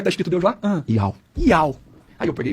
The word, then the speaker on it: YAUH: Como escreve Iau? O Iau é I-A-I... Dá uma caneta aqui. Caneta, por favor. Não, Y, tá? Tá, Y-A-U-H. Y-A-U-H. Iau.